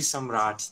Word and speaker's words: Samrat: hi hey sanfred uh it's actually some rat that's like yeah like with an